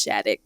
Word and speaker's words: Schadeck: me it's at most people can't pronounce my last name they always ask it's shattick so you know i